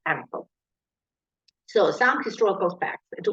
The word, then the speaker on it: AMPL: In the professional slang, especially among native speakers, this acronym is often pronounced as AMPL.